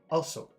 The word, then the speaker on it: also: In a lot of languages, when you see that O, it's pronounced in a very short way. So. So. Also. But not in English. It's a very long, very big sound. It's two sounds. It's O, oo.